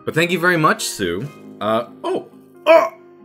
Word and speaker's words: Tsu: it sincerely Sue pronounced Sue so TSU but pronounced Sue um Twitter at I